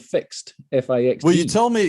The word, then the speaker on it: FIXD: car have you heard of the thing called fixed fix well you told me yeah you told